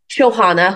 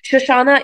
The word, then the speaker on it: Shohana: So Shoshana isn't the only mispronunciation I've heard. People have called me Shauna, Shobana. One person called me Selena one time, and I was like, you're not even trying.